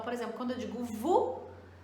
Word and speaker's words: vous: Então, por exemplo, quando eu digo vous, eu não estou pronunciando o S no final.